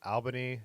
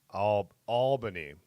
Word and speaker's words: Albany: be the same wait Raymond's saying you pronounced it Albany in New York we pronounce it all Albany OH Albany Albany Albany